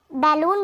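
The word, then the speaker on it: balloon: यहाँ पर बैलून भी पढ़ते हैं, बैलून, बलून करके भी और बैलून दोनों ही प्रोनाउंसिएशन होता है इसका।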